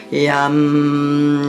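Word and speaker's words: यं: Yum. One syllable Sanskrit mantra. Yum.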